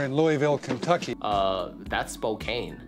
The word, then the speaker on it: Spokane: and children are in Louisville Kentucky uh that's Spokane right common popular pronunciation Spokane Spokane prevailing local pronunciation Spokane Spokane